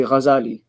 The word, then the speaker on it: Ghazali: We normally say Ghazali, but the muhaqqiqeen, the researchers from amongst the historians, say that the right way to pronounce it is Ghazali, because his father and his forefathers had this trade of weaving cloth.